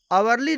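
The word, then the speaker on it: hourly: Next example है आवरली report, तो आवरली में एच साइलेंट है और इसका उच्चारण वोवेल की तरह हो रहा है, इसलिए आवरली रिपोर्ट के पहले एन आर्टिकल का प्रयोग किया गया है।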